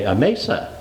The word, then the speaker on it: Amasa: aasa aasa you got the accent on the wrong syllable well we all called am around here that's what I so I went to cruden's concordance uh you know the Bible I think with pronouncing and I find a long a Mesa so uh uh take take your pick um whatever you uh